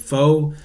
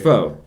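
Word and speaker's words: phở: And pho. So it's pronounced pho. Nah, it's pronounced pho. But I'm fucking American. Just the Americanized version. It's pho. It's pho ga. That's how you say it.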